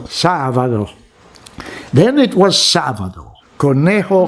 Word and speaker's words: sábado: It's also Sábado for them, but the Spanish pronounce the B almost like a V, so Sábado.